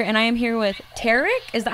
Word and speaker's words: Tarek: It is JR here, and I am here with Tarek. Is that how you say it? Well, it's Tarek, but close enough, I'll take Tarek.